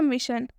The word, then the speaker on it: mission: ठीक है, क्या लिखा हुआ, मिशन।